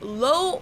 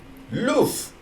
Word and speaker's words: Löw: And then the last name is not Low or Love, like I've heard many Americans say it, but it's Löw. Loaf. Like a loaf of bread.